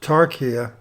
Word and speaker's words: taqiyya: The definition for taqiyya, pronounced tarkiyya, is precautionary dissimulation or deception and keeping one's convictions secret.